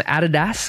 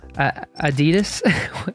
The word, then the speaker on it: Adidas: cool example is from Adidas or Adidas if you're in America that's how you say it but us Aussies call it Adidas for some reason I just think this